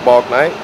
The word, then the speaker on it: Bouknight: Say your name and spell it for me. Balknight.